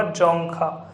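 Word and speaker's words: Dzongkha: तो आपके 4 ऑप्शन दे रखे हैं, इसका राइट आंसर होगा जोंगखा। अब इसमें डी साइलेंट रहता है इसलिए इसको जोंगखा कहते हैं।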